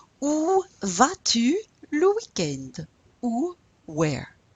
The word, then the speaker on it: au: And there's a contraction that happens when a comes with in front of le. You have to contract it to the AU. It's pronounced O.